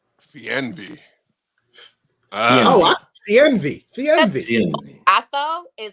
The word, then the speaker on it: Fernweh: But it's Fernweh. Fernweh. Fernweh. Fast though is like the German. She's like Fernweh.